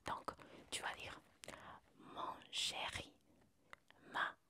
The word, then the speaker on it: chérie: Hay un tilde, el tilde que usamos en español, y cuando está este tilde, la E no la vamos a pronunciar cerrada así, no, la vamos a pronunciar como la E española, una E normal.